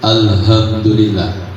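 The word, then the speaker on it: الحمد لله: Perhatikan alha itu ha kecil bukan H besar. Kalau alhamdulillah.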